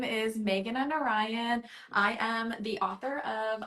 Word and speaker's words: Meghana Narayan: lanan Lanna okay and I'm actually could you pronounce your name for absolutely so hi everyone my name is Megan and Orion I am the author of a little bit